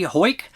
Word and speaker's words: Ho: Um, Mi Hoy, thank you for the compliments on my tunnel vision commentary track. For the record, my name is pronounced Ho, but don't worry, everybody stumbles on it the first time.